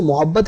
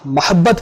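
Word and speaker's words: محبت: अच्छा, ये वर्ड जो मोहब्बत है ना, ये उसको मोहब्बत नहीं, ये मीम के फतह मोहब्बत पढ़ा जाता है.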